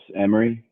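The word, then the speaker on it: Imrie: Mitchell, how do you pronounce I-M-R-I-E? It's Emery. Emery, Hi. just like it sounds.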